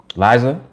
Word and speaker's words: Liza: all right cool and forgive me if i mispronounced your name i assumed it was liza is it liza or is it lisa is eliza i'm usually pretty good liza i think i got it liza i take i take pride in getting pronunciations correct you pronounced it right oh here we go